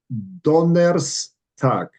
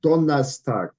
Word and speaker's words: Donnerstag: So if I pronounce the word Donnerstag the way the German will pronounce it, because they do not pronounce the E or the R.